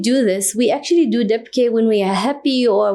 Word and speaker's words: Dabke: Is that the right way to pronounce it? Yes, Dabke.